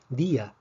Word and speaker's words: día: sobre la vocal cerrada por ejemplo en la palabra día vemos que díaz tiene dos sílabas y la iba acentuada puesto que la fuerza cae en la vocal cerrada el acento diacrítico nos